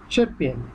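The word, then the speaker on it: sierpień: অগাস্টকে দেখেন SIERPIEN, শেরপিয়েন, শেরপিয়েন, শেরপিয়েন।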